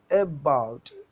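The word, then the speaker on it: about: വോവലിനെ നന്നായി ഒന്ന് ഉച്ചരിക്കും എബൗട്ട് എബൗട്ട് നമ്മൾ എബൗട്ട് എന്ന് ഉച്ചരിക്കുമ്പോൾ എ എന്നുള്ളിടത്താണ് സ്ട്രെസ്സ് അപ്പൊ എബൗട്ട് അതിനെ ഫുൾ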